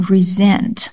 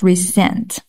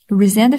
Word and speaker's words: resent: jealousy resent is dislike pay attention to the pronunciation resent not resent resent fact or implication that